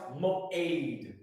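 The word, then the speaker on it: מועד: M O A A D, but it's pronounced moade.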